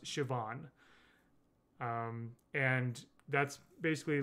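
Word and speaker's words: Siobhan: Irish Irish um and even in spite of the way it looks it's pronounced shoban um and that's basically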